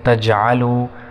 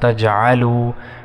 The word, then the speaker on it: تجعلوا: کو موٹا پڑھیں گے، فلا تجعلوا، لام کے بعد الف 1 سیکنڈ تک کھینچیں گے، تجعلوا، عین کو صحیح طرح ادا کریں گے تلفظ کے ساتھ، تجعلوا، وا کو 1 سیکنڈ تک کھینچیں گے.